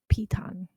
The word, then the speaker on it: piton: all four of these little niches but it's pronounced piton she has he he has two more than